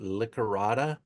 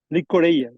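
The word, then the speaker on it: llicorella: Do I pronounce it Licorata? Licorella, yes, Licorella.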